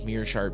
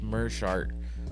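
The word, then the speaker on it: Meerschaert: I I found out I was everyone says mirart because it's Meer but it's actually pronounced merart whatever if the first part of your name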